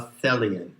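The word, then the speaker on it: Thelion: is intended that you are a Thalia rhymes with Hellion which means basically that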